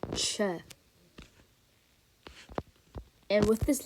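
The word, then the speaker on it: Ч: this letter is called Che and with this letter this letter is actually supposed to make the CH sound which you can kind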